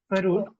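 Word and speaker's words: Froude: So it's Freud is the clue, but the actual thing is pronounced as Faroud.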